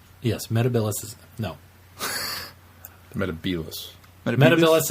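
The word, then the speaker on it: Metebelis: Metabilis is how it's supposed to be pronounced. He pronounced it Metabilis.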